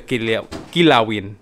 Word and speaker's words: Kinilaw: back to the Kinilawin.